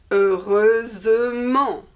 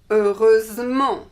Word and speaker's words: heureusement: And so the adverb is heureusement. Heureusement. We hear the S like the feminine.